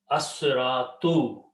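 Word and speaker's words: الصراطُ: Asratu is the word now. Okay, lam is written, but it's not pronounced.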